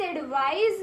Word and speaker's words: advise: This is एडवाइस, this is एडवाइज.